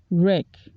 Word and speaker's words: wreck: answer the teacher couldn't answer the philosophical problem wreck wreck I always turn into a Jeeping wreck